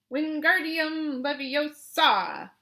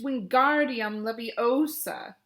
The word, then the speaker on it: Wingardium Leviosa: having much more luck Wingardium Leviosa he shouted waving his long arms like a windmill you're saying it wrong Harry hurts Hermione snap its Wingardium Leviosa make the GAR nice and long you do it then